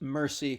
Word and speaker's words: merci: you can and it's it's not like pronounce like French like mousey it's just merci kind of like a tacky Anglophone accent and then you can